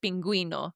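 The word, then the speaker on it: pingüino: So the best example, friends, to remember is the word penguino. Exactly. Just remember the little cute penguin needs you to pronounce the U.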